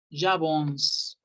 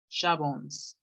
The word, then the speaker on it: j'avance: Y la C cuando está solita suena como S. Entonces, la pronunciación de este verbo es yo avanzo, j'avance, j'avance.